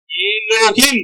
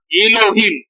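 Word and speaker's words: אֱלֹהִים: எபிரேய மொழிக்கு நேரா டிரான்ஸ்லிட்ரேஷன்வாங்க அதை எப்படி உச்சரிக்கணும் அப்படின்னு ஏலோகிம் போட்டுருக்கா ஏலோகிம் அப்ப உண்மையிலே எப்படி மொழிபெயர்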